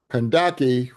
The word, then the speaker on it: Kandake: Kandake, which is spelled like Candace, Candace, in English, wasn't just a female queen, but she was a queen mother.